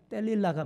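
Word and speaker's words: 델릴라: 신전에 창기였던 것으로 보입니다 정확한 발음으로이 들릴라는 히브리어로 셀릴라 뗄릴라가 맞습니다 그리고 그 이름의 뜻은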